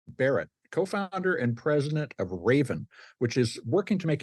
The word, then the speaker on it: Rayven: Raven, which is spelled R A Y Ven, Raven is using crowdfunding to allow people to invest in modernizing apartment buildings for as little as $250.